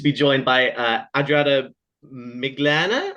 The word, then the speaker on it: Miglāne: joined by uh Adriana miglana I think is how you say it uh yes uh who will be